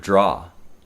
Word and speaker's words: draw: The pronunciation of the vowel in the word draw is the same vowel as in the word call.